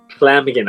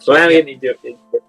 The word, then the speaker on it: Llamhigyn: It sounds like you're saying slamming in the door, but like the new cheat code I found is to pronounce it THL. So okay. Yeah. Llamhigyn. Okay. Llamhigyn is not so bad.